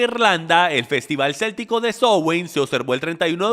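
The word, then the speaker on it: Samhain: de origen C llamada sn se pronuncia sowen Okay entonces sn es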